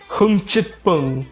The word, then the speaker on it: 흥칫뿡: Okay, so it's pronounced like Hmchikpung. That's what Google Translate is giving me.